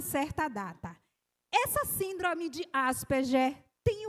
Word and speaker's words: Asperger: Hans Asperger. Algumas pessoas pronunciam Asperger, mas eu não fico à vontade falando assim o G. Então, é Asperger.